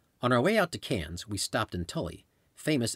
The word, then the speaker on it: Cairns: after Sydney and Melbourne Cairns pronounced Cannes is basically the Miami